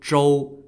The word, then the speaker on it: Zhou: a neighboring Tribe Called Joel spelled z h o u don't confuse it with King Joel which is spelled the same in English but pronounced in a different tone in Chinese the neighboring tribe of